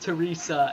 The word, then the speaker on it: Therese: were just talking beforehand her name is spelled Therese but it is pronounced Teresa and that is very